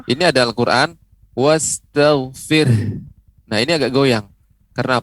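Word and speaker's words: وَاسْتَغْفِرْهُ: Ya, wastaghfir. Fir. Nanti terus dilatih di rumah. Fir, ini ada nafas, ada hembusan. Fir, ya. Karena ada huruf H di ujungnya.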